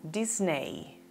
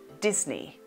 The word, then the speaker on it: Disney: la pronunciaría es como disney pero su correcta pronunciación es disney disney como te das cuenta la e no suena disney disney las weekend